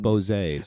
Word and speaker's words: Bose: Bose. Bose. That's how it's pronounced.